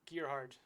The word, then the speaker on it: Gerard: So I say go by Gerard. Gerard. Yeah, my girlfriend calls me Gerard. My doctor will say like Gerhard. No, in fairness, not from Ireland. Gerard. What? Yeah, that's how they say it in Germany.